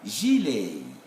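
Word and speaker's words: gilet: in both variants and this one is g but we shall pronounce that zhilei you know it's a french it's a whiteboard from french so as you can see it's an old sound not a silent sound so this is what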